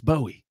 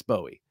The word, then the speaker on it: Bowie: someone and say look I'm A Yank it's Bowie you can say buoy all day long uh but it's Bowie I know I vacillate